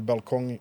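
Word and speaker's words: balkong: her apartment to the balong. Balong. Balcony. Balcony. Balcony. Balong. Is that how you say it in Swedish? Yeah. Balong. Yeah.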